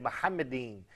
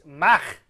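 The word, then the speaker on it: מחמדים: First of all, that is a mispronunciation of the Hebrew term, which is Mahmadin, mm-hmm. not he said Muhammadin. But even that im is wrong, but he did not pronounce the Hebrew che. It's Mahmadin.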